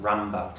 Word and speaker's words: Rimbaud: Rimbaud. I think that's pronounced Rambaud, Tom.